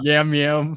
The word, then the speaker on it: Yam Yam: U his name's Jam Jam. Is that true? Totally true. And it but it's spelled with Y's like Y A M. Y Yam Yam.